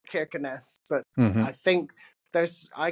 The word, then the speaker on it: Kirkenes: I think I can't ever quite get it right, but there's a special way in Norwegian of pronouncing a K when it's the first letter of a word.